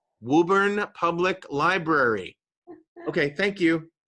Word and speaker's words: Woburn: had to convince my my uh producer that w-o-b-u-r-n is not pronounced woburn it's pronounced woburn if you're from boston you